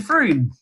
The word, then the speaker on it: Frome: And then the way I remember it in my brain is that it's Frome, Frome, Frome, shake the room.